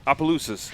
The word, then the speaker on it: Opelousas: How do you pronounce the city that you were born in? Opelousas? Opelousas.